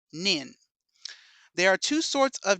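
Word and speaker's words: 忍: shurikens as we thought by reading the kanji with the nin shuriken this kanji is indeed pronounced Shinobi but for what whatever reason toy decid it would be pronounced nin there are two sorts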